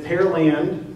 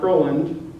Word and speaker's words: Pearland: And it's Pearland, not Pearland. That's how you know people are not from here.